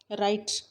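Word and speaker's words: write: राइट, W silent है।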